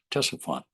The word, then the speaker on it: Ctesiphon: When the Persians moved in, they built a new capital not too far away called Ctesiphon, spelled with a CT, Ctesiphon.